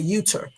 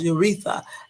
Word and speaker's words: urethra: and I called a uter. And I was like, who the hell would pronounce urethra as uter? What the hell is wrong with me? What? Urethra is not spelled uter. It's not pronounced uter.